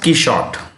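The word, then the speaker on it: Quichotte: know uh q q it's pronounced keyshot he shot i have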